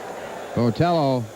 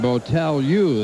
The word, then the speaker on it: Botelho: Botelho is the way they say it should be pronounced in Portuguese, but he isn't living in Portugal.